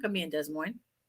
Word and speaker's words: Des Moines: I'm not going to be in Des Moines. Des Moines. I know I'm being funny. I've lived in Iowa. You don't pronounce the S's, just saying.